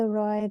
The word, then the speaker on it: roi: le O et le I, they make the sound wa.